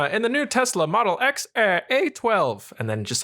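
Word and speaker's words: X Æ A-12: E a 12 yes so the AE sound is actually like a like that's how you say it yeah so it's like X a a 12 X a 12 Musk yeah yeah basically or what yeah cuz it's like a it's like a long a sound but then it's like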